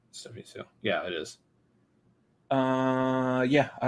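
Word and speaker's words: Hsu: And I'm pretty sure we're pronouncing her last name wrong. I think it's Stephanie Sue.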